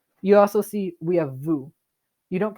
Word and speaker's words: vous: Vous. Vous. Like nous, we don't pronounce the S at the end. It's just vous.